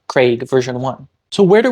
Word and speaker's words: Craig: being a proxy for any of the other pronunciations that are not Craig version one so where do we start what